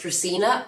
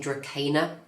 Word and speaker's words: Dracaena: I believe it is pronounced Dracaena. I, for years, have been saying Dracaena, and I keep getting corrected, so I'm going to try and say Dracaena from now on.